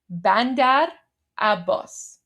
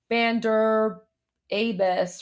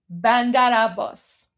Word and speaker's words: Bandar Abbas: Bandar Abbas. There you go. Bandar Abbas. And then the R rules into the A. So, instead of pronouncing it as like two separate words, imagine it's just one word.